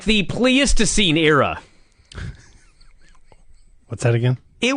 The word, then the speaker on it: Pleistocene: scene yeah I said it right you said pleastocine now please to scene you're doing it again please to seem not